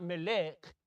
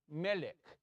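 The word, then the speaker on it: מלך: It's not melech, it's melech.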